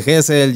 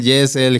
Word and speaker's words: Gezel: conforma la palabra gessel Entonces jesel es este por eso cuando me preguntaste Cómo se pronuncia como como te salga de aquí al gente que dice gesel jessel gesel sabes Okay Eh justamente te